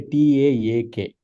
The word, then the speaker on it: talk: phoneme representation of talk, it will say Taak. So Taak, if you pronounce Taak, that is basically talk, right? That's how we are actually pronouncing the talk.